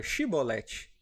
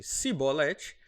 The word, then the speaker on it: Shibolete: Se dizia que não, então lhe pediam que dissesse a palavra Shibolete. Se, no entanto, dissesse Sibolete, porque não conseguia pronunciar corretamente a palavra, eles o prendiam e o matavam na passagem do Jordão.